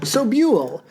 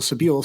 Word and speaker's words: Sobule: And I'm Sam Sutherland, and this week we're talking about Supermodel by Jill Sobule, whose name I learned how to pronounce possibly 10 minutes ago.